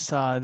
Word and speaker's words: Saad: My name is Saad, you pronounce it wrong.